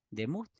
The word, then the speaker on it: demut: Entonces, como en el original del Antiguo Testamento es el hebreo, imagen se pronuncia teslem y semejanza se pronuncia demut.